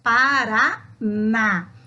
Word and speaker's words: Paraná: Nós temos Paraná. O na é mais forte do que as outras sílabas, está na última posição, acentuado. Portanto, é uma oxítona.